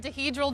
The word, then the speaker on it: dihedral: so these are called dihedral doors. Rhymes with cathedral.